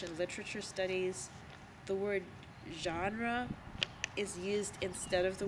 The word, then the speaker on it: genre: directly taken from French G e NR e it is pronounced genre which is actually a French sound like the sound doesn't exist in English so in English we